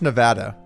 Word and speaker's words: Nevada: It's pronounced Nevada.